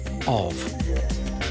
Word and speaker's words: of: brain overlooks the word of because the f is pronounced like a V Tina Turner loves her